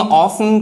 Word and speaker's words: often: अब इसमें देखेंगे ऑफ्न का टी साइलेंट रहेगा, लिसन में भी LISTEN